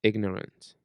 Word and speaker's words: ignorant: Sound the G in ignorant.